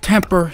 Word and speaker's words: TMPR: about this great company it's pronounced temper joey you can't even